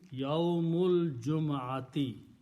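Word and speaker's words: يوم الجمعة: And you don't pronounce alif in between. Yawmul Jum'ati.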